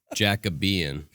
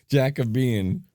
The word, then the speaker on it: Jacobean: podcast series my pronunciat my pronunciation of uh jacobean yeah and now i'm totally confused as to what it actually is i think it's jacobian jack of bean yeah i stand corrected i feel like a